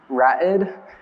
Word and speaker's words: Ra'ed: It's like rapid without the P, Ra'ed.